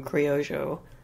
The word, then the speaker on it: criollo: And yeah, the Spanish, I think, pronounced them criollo.